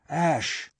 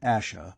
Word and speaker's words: Ash: return to the hill Ash not Asha but Ash Ross though sure of